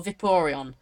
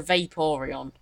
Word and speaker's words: Vaporeon: It's not a Vaporeon, it's a Vaporeon. I fucked that up because I was meant to say Vaporeon.